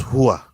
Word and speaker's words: Rua: It's pronounced Hua. He's Brazilian, he says. Well, I say his name is Rua, and I am Brazilian.